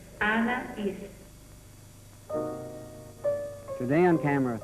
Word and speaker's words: Anaïs: It's Anaïs. Anaïs. Anaïs.